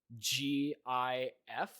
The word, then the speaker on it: GIF: I want to name both of my children g i f or or is Jif or one of the two no it's GIF